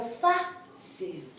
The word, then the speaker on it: fácil: Not fácil, pero fácil. Why? Because here the accent is on the first syllable. It should be on the last syllable because it ends in a consonant.